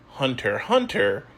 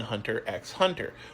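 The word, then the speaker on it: Hunter × Hunter: And lots of people still pronounce the X in Hunter X Hunter.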